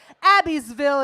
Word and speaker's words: Abbeville: The blade is in his hand and coming up the back of my neck when he says, Abbeville is how you would pronounce it.